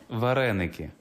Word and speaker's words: вареники: How do you pronounce it? Вареники. Varenica.